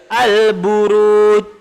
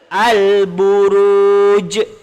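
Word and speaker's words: البروج: ajim termasuk huruf Qalqalah jadi kalau kita baca al-buruj salah al-buruj salah yang betul al-buruj al-buruj ada jeda itu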